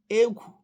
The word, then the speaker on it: egwu: a na-agaba ọrụ maọkwanụ anọrọ na ama gwuo egwu beta ebe ọbụla ị nọ just make sure